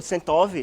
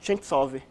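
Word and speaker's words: Ченцов: E a pronúncia do Sentov, na verdade, é Chentsov, só para constar, que é uma coisa interessante, né?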